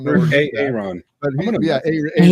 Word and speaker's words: Aaron: whole AA run thing, my son actually thought that the name Aaron is actually pronounced AA Ron because of the way it's spelled.